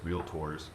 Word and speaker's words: realtor: It's a rule change to how you guys realtors. I don't say realtors. It's tomatoes. It is not. There's only two syllables.